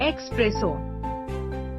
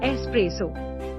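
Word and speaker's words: espresso: the second syllable four एस्प्रेसो incorrect एक्सप्रेसो correct स्पासो एस्प्रेसो टिप देस नो एक्स इन एस्प्रेसो think of the word S starting with an S sound five मिसचिवस incorrect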